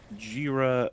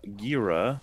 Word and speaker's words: Jira: Also, many people will pronounce Jira Gira, but it's pronounced like the second syllable in Gojira.